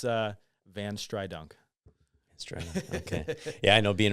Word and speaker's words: VanStrydonk: So, but yeah, it's VanStrydonk.